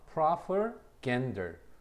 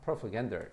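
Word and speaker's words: propaganda: proper gender 그 뒤에 강세가 있다. propagander 이렇게 얘기를 합니다.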